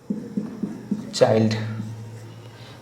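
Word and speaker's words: Childe: V Gordon চাইল্ড। লাস্টে ই দিছি মানে চিল্ডে না, ঠিক আছে, এটা উচ্চারণ চাইল্ডই হয়।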